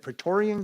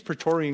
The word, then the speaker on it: Praetorian: not saying it right, the guard, is it Praetorian guard? I think it's Praetorian Guard, the Roman Guard.